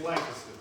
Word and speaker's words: Lancaster: A friend of mine owns a sandwich shop out in Lancaster, however you want to pronounce it. I'm from Dallas, so it's south of the Trinity, it's Lancaster.